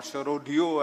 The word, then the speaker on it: Sharodia: So the app we developed was called Sonata Sharodia, or Sharodio, as it's correctly pronounced in Calcutta.